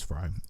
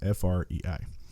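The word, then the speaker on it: Frei: her name right but I think it's Francis Frey Fri and her take on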